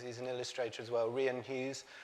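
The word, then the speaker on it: Rian Hughes: an illustrator as well rien keys that's how you pronounce his name otherwise I'd embarrassing myself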